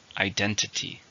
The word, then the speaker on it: identity: Identity. 4, stress in the second.